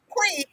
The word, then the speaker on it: Twi: pronunciation. It Twi. is tree. It is tree. Can you hear me? Okay, it's Quee.